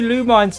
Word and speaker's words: Lumines: Yeah, it's a new Lumines type thing. Oh, hell yeah. Lumines effect. Yeah, lumines. That's how you pronounce it.